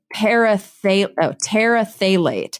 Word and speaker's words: terephthalate: Polyethylene terephthalate, but it's PHTH. And so I kept calling it terephthalate. And at least 5 people were like, you don't pronounce the P.